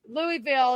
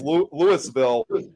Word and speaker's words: Louisville: as the Kentucky one, it's actually not pronounced that same. They actually prefer it as Louisville. So if you have somebody from Louisville, Kentucky, go up and